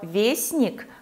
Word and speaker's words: вестник: Для слова «вестник» мы можем подобрать слово «весточка» и другие.